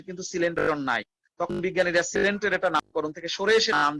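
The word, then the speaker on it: Coelenterata: সিলেন বানানটা কিন্তু এরকম, COELEN, তারপরে TERATA, সিলেন্টেরেটা।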